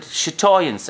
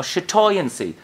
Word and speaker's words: chatoyance: We pronounce it chatoyance or chatoyancy.